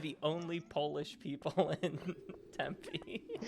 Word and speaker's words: Tempe: we are in the Tempe area. That seems like a mispronunciation. Like it should be like tempeh. I feel like It should. Like this- I agree. like the fermented soy food. Yeah, the food.